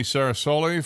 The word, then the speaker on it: Ceresoli: It's 8:15 and as I promised, I want to say good morning to Tony Sarasulli from Blessings in a Backpack.